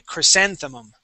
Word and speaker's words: chrysanthemum: Okay, so our accent is right here on that A, chrysanthemum.